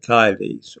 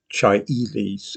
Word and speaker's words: caelis: Some older viewers might recall the Lord's Prayer saying the Paternoster in Latin, Paternoster quies in caelis, or Chiaelis, as the latest pronunciation would have it, Our Father which art in heaven.